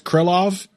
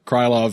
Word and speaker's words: Krylov: going to pronounce correctly i've been told it's krillov don't care krylov sounds better to me i'm sticking with it